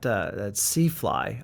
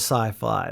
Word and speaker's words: SiFly: I think that everyone else pronounces it SiFly. But and so that's something that the brand might want to consider. It sounds cooler as SiFly, like science fiction fly, but everyone pronounces it SiFly.